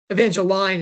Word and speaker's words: Evangeline: I mean, Demetra said Evangeline is the right pronunciation for that.